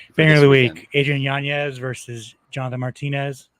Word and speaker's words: Yanez: So like Yanez is not going to be able to notice how I've been pronouncing his name right. Yanez.